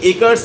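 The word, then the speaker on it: acre: সমতল ছাদ ছিল তার চারিদিকে there were many একারস of farm এই যে এসি আর ইএস এর উচ্চারণ কিন্তু হয় একর এক একর মানে তিন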